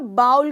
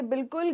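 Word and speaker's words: bowl: Generally इसे बाउल कहा जाता है और ये बिल्कुल गलत प्रोनाउंसिएशन है। इसका सही प्रोनाउंसिएशन है बोल। जैसे हम कहते हैं हिंदी में कि हाँ बोल, बस बोल, वो सही प्रोनाउंसिएशन है।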